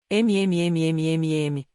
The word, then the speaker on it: AUM: AUM pronuncia-se esotericamente MMMMMM, e neste mantra encerra-se o poder de todos os tatas.